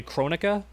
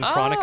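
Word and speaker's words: Kronika: Apparently it's meant to be based off Kronos, so her name is actually Chronica, like you're saying Crow. I did not know that. I kept saying Chronica, like she's chronicling time, but I was wrong.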